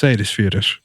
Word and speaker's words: Seyðisfjörður: of Denmark over to Seyðisfjörður in Iceland. And I don't know if you got that pronunciation, but it's Seyðisfjörður.